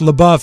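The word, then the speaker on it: LaBeouf: the buff is pronounced la buff it means in in french it means the beef the beef yeah and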